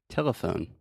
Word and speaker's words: telephone: How about the word telephone? Telephone. Yeah, tell me where the schwa is. T. No. Telephone. So I'm saying te, e. Telephone. Yeah, so the schwa is the middle syllable.